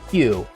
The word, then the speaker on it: queue: So if you've ever taken a computer science class, then you've heard it pronounced as Q.